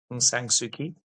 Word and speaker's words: Aung San Suu Kyi: It's Aung San Suu Kyi, and she won the Nobel Prize for peace.